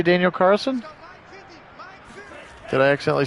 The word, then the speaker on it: Carlson: your speakers checked i thought you were saying i said the first name wrong daniel carlson carlson i will make sure that i get that l in there for you buddy second and five now